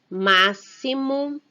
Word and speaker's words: máximo: Agora vamos conhecer algumas palavras onde o X tem o som de S ou SS. Texto, máximo, explosão, expresso, cesto, excluir, trouxe, cesta e exclusivo.